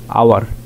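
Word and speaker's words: hour: যেমন হি has been working for অ্যান আওয়ার, এখানে উচ্চারণটা এইচ ও ইউআর, এটার উচ্চারণ হেচের উচ্চারণ সাইলেন্ট হয়ে আওয়ার হয়েছে, এটা হাওয়ার হয় নাই।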